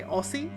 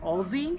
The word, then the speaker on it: Aussie: but apparently Australian people pronounce it Aussie, God damn it! like with a Z. Aussie, not Aussie.